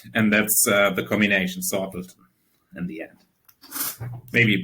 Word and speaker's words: Sortledton: Yeah, it's sorted. It comes from being sorted, sorted. And it's basically a simpleton idea, it's very simple. It's and that's the combination Sortledton in the end.